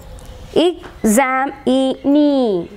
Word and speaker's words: examinee: Examinee. Examinee. Again, E one that E particular syllable. So we can say that examinee. Nee is given more stress.